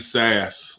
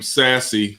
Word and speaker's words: Sasse: My gangster of the week is Senator Ben Sass. I had been calling him Sassy by mistake.